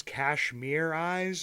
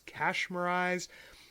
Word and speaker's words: Kashmirize: And I don't know if it's Kashmir Eyes or if it's Kashmirize. You can pronounce it the ways you want to.